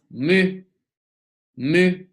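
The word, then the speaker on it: む: mail person for men the next canal is mu mu em you move like in the word mushi mushi insect the next kana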